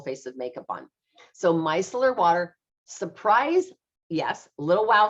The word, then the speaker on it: micellar: So this is 17 and it's pronounced micellar, but you can spell it mice, M-I-C-E, Micellar Water.